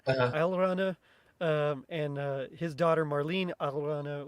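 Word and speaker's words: Alraune: Sorry, I looked it up how to pronounce it because it's like a German word. Alrana, and his daughter Marlene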